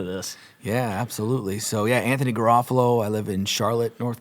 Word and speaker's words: Garofalo: Can I pronounce his last name? Yeah, Garofalo. Garofalo. Garofalo.